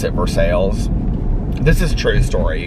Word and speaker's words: Versailles: like um it looks like versailles but they pronounce it for sales this is true story you guys i'm telling